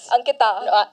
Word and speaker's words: Ankita: Ankita. Yeah.